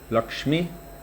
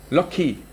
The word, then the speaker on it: Lakshmi: the shah in the in sanskrit you would say lakshmi but bengal you would say in fact even in bengali particular dialect they don't pronounce the m when it comes after the ksa ksm and lakshmi it becomes interestingly enough lucky i wonder where the